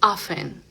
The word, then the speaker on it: often: Eh, a menudo no es of es often. Often. Sí, en el inglés americano super importante esa T es silenciosa.